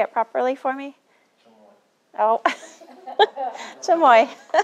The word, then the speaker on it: chamoy: like to say it properly for me oh chamoy it's really okay okay excellent all right chamoy